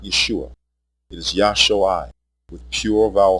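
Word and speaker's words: ישועה: It is Yashui with pure vowel sounds. The pronunciation Yeshua has two degraded vowels, a short E and a long U.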